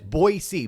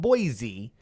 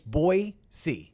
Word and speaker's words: Boise: Austin they all went to Boise and it's Boise Boi Dash s-e-e that's how it's pronounced it's not Boise it's boy C like Boise Boise Idaho yep so had a